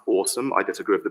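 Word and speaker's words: OSoMe: anyone interested in this that first one is pronounced awesome i disagree with the pronunciation but it's just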